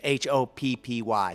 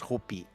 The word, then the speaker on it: Hoppy: you're going to think it says hoppy because h-o-p-p-y so it looks like hoppy but it's it's pronounced hopi yeah hope and and uh it's just a